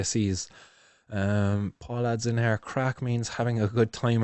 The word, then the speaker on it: craic: Paul adds in here, crack means having a good time in Ireland. Yeah, that's spelled Craic actually. What you spelled is a crack on the floor.